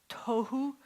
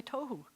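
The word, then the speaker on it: תהו: And the next word is tohu. You have no air left after you say tohu. You have to expel all of your air.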